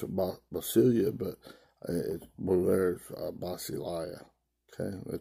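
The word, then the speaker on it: basileia: God that bossy Lou uh basilia okay you pronounce it basilia but it is okay the translator is Kingdom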